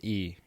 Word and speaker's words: Byrne: Burn is Byrne. Yeah. Yeah. Yeah, yeah. Byrne. Pronounced Burn, but Uh huh. this is an Irish spelling.